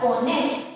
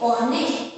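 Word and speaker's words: honest: then last में मैंने लिखा है ओनेस्ट, सो यहाँ पर भी आप देख सकते हैं जो एच है वो साइलेंट है, तो हम लोग ओ से स्टार्ट करेंगे, हमारे साउंड कहाँ से स्टार्ट हो रहे हैं, ओनेस्ट, यानी कि अ, जो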